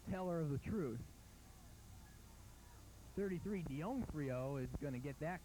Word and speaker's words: D'Onofrio: 33, Dionfrio, is going to get that call, and he's going to pick up about 4. Bring up third down. D'Onofrio is the name, pronunciation of the name.